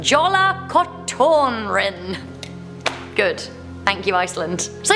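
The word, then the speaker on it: Jólakötturinn: scary we have the legend of correct my pronunciation jolla cotton rin good thank you iceland so yeah beware jolla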